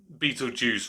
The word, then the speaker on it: Beetlejuice: right right so I guess it's where it's Beetle Juice rather than Beal guys Beetle Juice yes that's